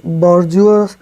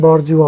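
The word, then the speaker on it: bourgeois: चलिए नेक्स्ट है, ही कैन not come out ऑफ हिज बॉर्जुआ mentality. इसका उच्चारण बॉर्जुआ होता है। बुर्जुआ, बुर्जुआ मतलब होता है मिडिल क्लास।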